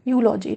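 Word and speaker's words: eulogy: यूलॉजी, इसके वैसे ही जैसे यू प्रोनाउंसिएशन आ रहा है साउंड, ऐसे और कौन कौन से होते हैं? जैसे यूनिवर्सिटी, तो यूनिवर्सिटी में भी किसकी साउंड आ रही है?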